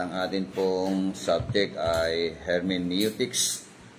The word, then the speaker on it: hermeneutics: At ang atin pong subject ay hermeneutics. O ang pronunciation niya talaga ay hermeneutics.